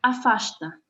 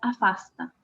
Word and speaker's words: afasta: Por ejemplo, esta palabra, afasta, Chico la pronuncia con sh, afasta, y Milton la pronuncia afasta. Los cariocas, Chico es carioca, tienen la particularidad de pronunciar la S como una SH nuestra.